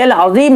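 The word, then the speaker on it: العظيم: یا سبحان ربی العظیم زا پڑھتے ہیں یا جیم پڑھتے ہیں، نماز آپ کی ختم ہو جائے گی، فاسد ہو جائے گی۔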